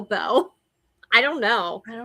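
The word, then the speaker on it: beau: It is spelled It is spelled b a Yeah. That's b e a u on the back and then inside it's bow as in You know what?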